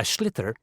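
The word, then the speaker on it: sliotar: this ball called a schlitter that's s-l-i-o-t-a-r so it's not spelt the way it's pronounced you hit it into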